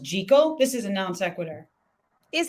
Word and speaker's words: Jekyll: like you said like jekyll do you know what's pronounced jiggle this is a non-sequitur is it they say it's pronounced jiggle isn't that screwed up